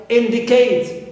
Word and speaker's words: indicate: Also, verbs or three-syllable verbs ending with eight, like indicate, like stimulate. Although they end in their final syllable, or they contain diphthong A, but as they end with eight, here we stress the first syllable.